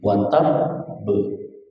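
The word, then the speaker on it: وَتَبّ: Jadi watab. Watab. Diangkat dulu. Sama dengan bil haqq. Sama. Itu akbar semua. Tabbat yada abi lahabin wa tab. Ya, sini semuanya. Tabbat yada abi lahabin wa tab. Jadi bacanya gitu.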